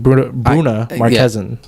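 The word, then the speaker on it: Bruna Marquezine: Bruna Marquezin.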